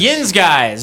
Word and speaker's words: Yinz Guys: Sten Brothers the how do you say it Yin guys Yin guys okay why do I say the stin brothers